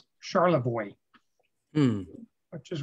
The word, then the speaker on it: Charlevoix: We are going up to what I want to pronounce Charlevoix, but what the locals in northern Michigan pronounced Charlevoix.